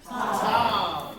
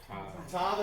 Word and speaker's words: Tav: Let's do tav the very end of the alif b. Say it together. What is it? Tav. Okay. Tav. Tav as in T as in tall.